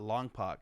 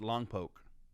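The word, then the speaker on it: Longpoke: long poke he said it's not long poc it's long poke it is he's right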